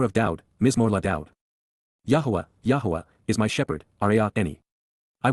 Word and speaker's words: Yahowah: within the home, Baith, in the household, of Yahuwah, Yahuwah, in the proper pronunciation of the name of Eloah, God as